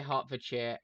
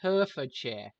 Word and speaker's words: Hertfordshire: three different counties: Bedfordshire, Hertfordshire, and Buckinghamshire. Every American I've seen do a YouTube video talking about like something that's happened in Hertfordshire has pronounced it Herefordshire.